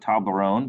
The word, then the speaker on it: Toblerone: then there's the famous toblerone chocolate logo um this is actually a company from switzerland so you say that toblerone because it's in french and what's kind of